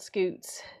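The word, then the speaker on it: scutes: We're all just saying scoots. Scoots. The kind of scaling you see on chicken toes is called scoots. Oh, really? Or Like scuts.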